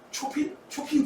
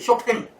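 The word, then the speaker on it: Chopin: 친구가 딱 오더니 또 클래식 음악 좋아한다고 하더니 초핀 누구야? 초핀 누구야? 그래서 내가 그랬죠. 이 멍치 무시해줄게. 쇼팽.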